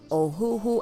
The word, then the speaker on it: Ohuhu: i had received it from a company called oh who who i did ask them how to pronounce it so i am saying it correctly